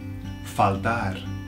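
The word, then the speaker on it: faltar: that one next one falar falar sounds like fault and it means to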